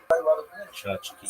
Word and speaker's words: tchotchke: Chachki. Chachki pronounced chach. Chachke, chachki, or chachki is a Yiddish term that refers to toys, trinkets, or decorations.